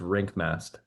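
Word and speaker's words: Rienk Mast: No, it's like rink, ice rink. Oh, is it rink? Yeah, it's I mean, it's spelled R E I N K, but it's Rink Mast.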